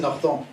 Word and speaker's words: Norton: si vous voulez prononcer comme il faut, c'est Norton.